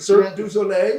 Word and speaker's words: Cirque du Soleil: Cirque du Soleil, yeah.